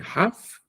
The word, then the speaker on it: half: So Neymar is getting half of Cristiano Ronaldo's salary. Half indicates 50%. Half. Notice that the letter L is not pronounced.